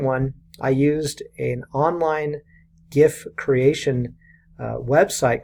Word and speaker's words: GIF: a little bit about gifts what are they well first of all gift spell gif and it's pronounced gif not jiff I don't care what